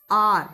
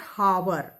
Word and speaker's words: hour: आर word है वो it sounds आर, नॉट हावर। H is silent in HOUR, जो जिसको आप घंटा वर्ड है ना, घंटा, हाफ एन आवर वर्ड, उसको हम हाफ एन हावर नहीं बोलते ना, हाफ एन आर ही बोलते हैं। मतलब H साइलेंट है, O से उसकी आवाज